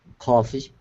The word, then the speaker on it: coffee: Remember, the sounds won't be exactly the same because of the way the consonants affect the vowel. There's no R in coffee, so it won't sound 100% like frog, but that's the right column.